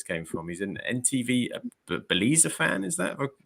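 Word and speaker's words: Beleza: He's an NTV Belize fan. Is that, have I pronounced that correctly? Belize, yeah.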